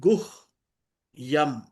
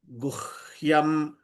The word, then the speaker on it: गुह्यं: It's very simple. Split Guh Yam. Very simple. Don't have to struggle. Guhyam, Guhyam, Guhyam.